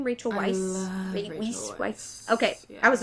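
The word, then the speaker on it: Weisz: Um Rachel Rachel Vice, is that her name? Rachel Weiss.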